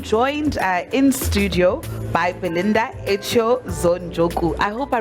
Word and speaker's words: Kayser-Echeozonjoku: I'm joined in studio by Belinda Kayser-Echeozonjoku. I hope I pronounced your surname well.